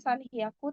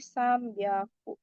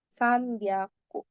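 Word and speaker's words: 三百: Tapi kebetulan kalau di ratusan ada penyebutan khususnya 300 itu bukan sanhiaku tapi sambiaku. Sambyaku ini tuh berkaitan dengan yang waktu itu saya bilang kalau ada beberapa huruf yang cara bacanya jadi beda kalau dia ditempelin sama huruf-huruf tertentu. Dan salah satunya adalah biasanya kalau nempel sama angka tiga tuh dia jadi tebal pembacaannya apapun itu ya.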